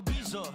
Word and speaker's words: Ibiza: Yeah, it's pronounced Ibiza, actually. Yeah. What's the difference then? Ibiza, Ibiza, you won't see me in neither.